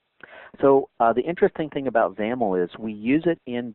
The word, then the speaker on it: XAML: By the way, XAML, X-A-M-L, is the acronym there, and that's pronounced with rhyming with camel.